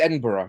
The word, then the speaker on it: Edinburgh: Well, I know it's Edinburgh.